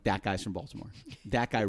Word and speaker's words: Baltimore: Now we pronounce it Baltimore, but up there it's Balmer. Balmer.